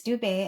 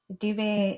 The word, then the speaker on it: Dube: You say it pretty perfect. It's Dubet and uh Dubet in the language of a synindle in Zimbabwe means zebra.